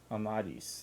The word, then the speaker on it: Amadis: Amadis. That's how they've been pronouncing it.